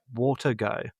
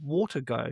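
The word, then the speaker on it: Watego: And it's called Water Go. So, but it's spelled it's spelled W A T E G O. So, it's like WGO, but it's I think it's meant to be Watergo, but So, it's like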